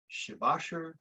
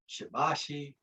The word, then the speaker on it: Shibashi: who you talk to called shibashir shibashir shivashi it's pronounced different ways chinese words for basically